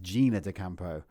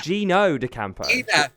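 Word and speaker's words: Gino D'Acampo: of the allegations against Gina Dampo, your You said his name wrong. What's his name? Gino Dampo. Not Gina like Gina G.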